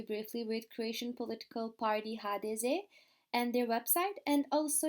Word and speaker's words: HDZ: during today's presentations are HDZ or HDZ. I will pronounce it like Croats do during the presentation.